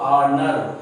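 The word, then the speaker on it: honour: यहाँ भी H silent है, इसलिए एन ऑनर।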